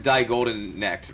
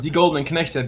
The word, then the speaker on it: Die Golden Knechte: you were on Team Die Golden Necked, right? Again? What team were you on in CCT2? It was called Die Golden Knechte. Basically means the golden slaves, if you pronounce it properly.